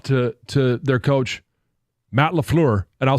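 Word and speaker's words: LaFleur: played hats off to to their coach Matt laflure and I'll say it correctly this time because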